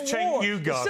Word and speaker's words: Cenk Uygur: His name is Cenk Uygur, for starters.